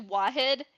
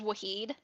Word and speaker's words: Wahid: Like, actually, no, my name's bad, too, cuz it's actually Wahid, and everyone says Wahed.